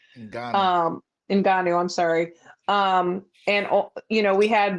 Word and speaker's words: Ngannou: It's also enticing other fans with Inagu, and I'm sorry, I'm saying his name wrong. in Ghana. Ngannou, I'm sorry.